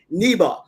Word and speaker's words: Niba: right to it Belle and I love the pronunciation of your last name neba because everyone knows I have a hard time